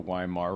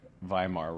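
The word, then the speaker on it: Weimar: our Congress like the Yar Republic viar Republic is the right way to say it is not doing anything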